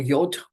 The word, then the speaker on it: yod: the shape of the yud this is or yod depending on how you want pronounce it it's actually usually just